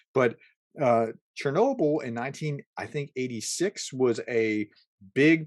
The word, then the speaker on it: Chornobyl: He uses the phrase "cornable," uh, Chornobyl, whatever. It's pronounced a little bit differently in Ukrainian, but Chernobyl in 86 was a